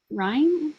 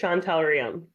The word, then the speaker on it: Shantel Ram: today we have shael Ryme Ryme how do you say that it's just Shantel Ram Shantel Ram okay and